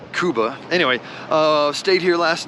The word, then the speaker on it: Cuba: we are in Kuba I've been pronouncing it Cuba but they said Kuba anyway uh stayed here